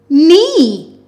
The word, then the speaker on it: knee: eem, neem, n, e, knee. Remember, the K is silent.